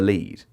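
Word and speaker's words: lede: people say bury the lead. You like I know that that that that is spelled L E D E.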